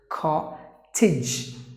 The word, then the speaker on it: cottage: So you have to pronounce the word as cottage.